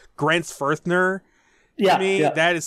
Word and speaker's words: Grenzfurthner: the the syllables like Grant's firthner yeah I mean that is such a cool name it's actually not a th it's not a teacher because most Americans think it's a th well there you go